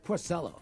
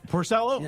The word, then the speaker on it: Porcello: he did last night I give the Italian pronunciation he's Porcello Porcello ok uh when he